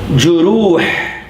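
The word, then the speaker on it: جروح: The plural of jurh is juruh. Consonant plus a short vowel, that's one syllable, right? So here's my first syllable. Ju. Consonant plus a long vowel, that's my second syllable. Does this have anything? No. What do I assume? Sukoon. So it goes with that syllable. So two syllables in this word.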